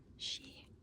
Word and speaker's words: し: So it's pronounced like the name she but it's just a swoop.